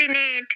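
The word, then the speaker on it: Binet: बोला था ना अल्फ्रेड बनेट बनेट अल्फ्रेड बनेट अभी प्रोनंसिएशन में आता है बिने बट लिखा जाता है बिनेट ठीक है प्रोनंसिएशन में आएगा बिने बट लिखा जाएगा बिनेट देखो अभी एक आया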